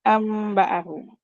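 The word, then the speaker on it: أَنۢبِئْهُم: mim ba'di kemudian dan ada tulisan an baahum itu kita bacanya ambaahum Ya seperti itu itu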